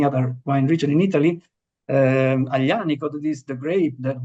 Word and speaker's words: Aglianico: As my family name, the same happens with Aglianico. It is AGL, so you have to, sometimes to educate people to try to pronounce it properly. Aglianico is very complicated, but